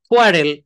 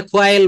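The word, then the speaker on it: quarrel: খুয়াটা, খুয়াটা, খুইল, খুইল, খোয়ারেল, খোয়ারেল। এখানে কিন্তু আবার রটা উচ্চারণ করা হবে, খোয়ারেল, এখানে খোয়াইল বলা যাবে না, খোয়ারেল।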